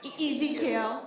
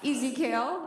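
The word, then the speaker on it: EZKL: you pronounce it again e like easy kale sorry easy kale um that's better you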